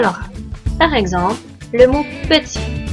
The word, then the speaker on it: petit: Si nous nous fions à l'oral, le mot petit s'écrit P-E-T-I. Petit. Par contre, le mot se termine avec un T. P-E-T-I-T. Donc, ce deuxième T est une lettre muette.